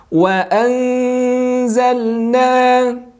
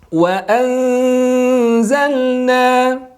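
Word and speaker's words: وَأَنْزَلْنَا: Kemudian kita temukan juga ada nun sakinah bertemu dengan zai. Ini juga berwarna hijau, maka silakan samarkan. Wa anzalna. Sekali lagi simak. Wa anzalna. Jadi jangan tergesa-gesa, dibaca wa anzalna. Artinya ditahan dulu 2 harokat.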